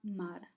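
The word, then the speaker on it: མར: Le Ra est une lettre qui est appelée une suffixe et qui garde seulement la prononciation de sa consonne R. Et donc, Ma plus R devient Mar.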